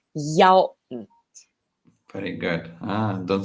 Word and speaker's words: 一: And don't forget the unique use of number 一, which is pronounced 幺. Very good. Don't say yi.